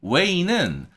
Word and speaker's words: weigh: 그래서 잘 봐주시고, weigh가 저울질하다, 무게를 재다 이런 뜻이고, weigh는 자체의 발음이 위에 있는 이 weigh랑 발음이 똑같다 그랬죠. 그래서 조심하셔서 GH 발음이 묵음인데 모음의 발음을 약간 길게 해주는 이 부분에 대해서만 신경 쓰시면 좋았습니다. 다음 문장.